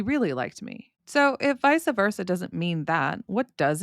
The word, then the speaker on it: vice versa: We don't have many words that are spelled VICE that are pronounced Visa.